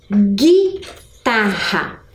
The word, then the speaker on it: guitarra: Percebam que o som, eu não escutei o som da vogal U.